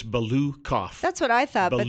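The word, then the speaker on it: Balukoff: How do you say it? It's Balukov.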